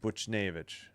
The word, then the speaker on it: Buchnevich: It is Vich. Okay, I thought it might be Vic. All right, Buchnevich.